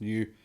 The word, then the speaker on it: NIU: combined new or niu which is pronounced new and it's the name